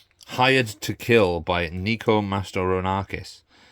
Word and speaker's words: Mastorakis: Hired to Kill by Nico Mastorakis. Mastorakis, sorry. I said his name wrong last time.